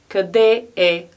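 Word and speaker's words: къде: angliski it means to speak english and we pronounce it govoriteli angliski govorite li angliski and our last phrase for the day is kade it means where is and we can ask kade after garatha kade this means where is the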